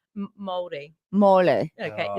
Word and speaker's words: Māori: Molly? Māori.